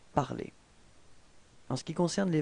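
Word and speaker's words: parlé: se terminent en ER, vous devrez enlever le ER final et le remplacer par un E accent aigu qu'on prononce E. Phonétiquement, vous obtenez exactement la même chose, puisque l'infinitif c'est parler dans cet exemple, et le participe passé est prononcé parler.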